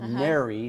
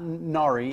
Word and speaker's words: NARI: of the remodeling industry mary not nori i know there's some debate about this nationally how to pronounce it mary at least one thing